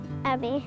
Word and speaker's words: Abby: And I love yabbies because they rhyme with my name, Abby, the yabby.